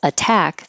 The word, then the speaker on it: attack: So in the word attack, the two T's are between vowels, but it's in the stressed syllable.